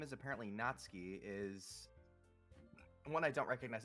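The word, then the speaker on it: Natsuki: the sour attitude who whose name is apparently natski is one I don't recognize am I pronouncing that right natski yeah yeah okay her small figure makes me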